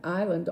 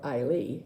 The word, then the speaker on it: Islay: We have an island off the west coast of Scotland called Isla, or Islay, some people say, because there is a Y on the end.